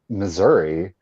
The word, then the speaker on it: Missouri: That's but then like you say it like, because I don't say Missouri, I say Missouri. It's Missouri. Hey y'all, and I know that Missourians don't necessarily. It's both.